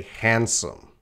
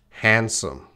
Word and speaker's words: handsome: That actor is very handsome. Handsome. Handsome. You see that D, but we're not going to say the D at all. It is silent.